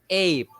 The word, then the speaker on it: ape: So for there's no Okay. e there because we will not pronounce the e. So in Oh, this case, the a with the bar at the top is pronounced as a all a, right. and then we end with the p sound ape.